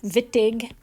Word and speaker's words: Wittig: called the vitige reactions it's pronounced with a v even though it's spelled with a w vittig who is a person